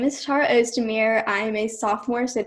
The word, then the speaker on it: Ozdemir: virtual showcase and I'm here with Tara host a mirror am i pronouncing it right yeah okay so Tara tell us a little something about yourself my name is Tara O's Damir I am a sophomore sat 2022 I go